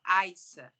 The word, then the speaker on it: Yaisa: comum lá só que se pronunciava Iza e não iaisa aí eu falei assim